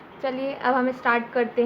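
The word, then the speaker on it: Chile: इसको आपके टीचर्स ने चाइल्ड पढ़ाया होगा, पर इसकी ब्रिटिश प्रोनाउंसिएशन चिले होती है, सो इसलिए मैं आपको बता देती हूँ।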